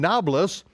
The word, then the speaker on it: Nablus: and children as a matter of fact in Nablus and why it's called novelist's is because the the arabs can't pronounce a p it's it was Neapolis Neapolis